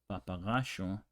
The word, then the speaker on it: papagayo: Ayer means yesterday, and how you would pronounce it in places like Argentina is papaya, papagayo, ayer.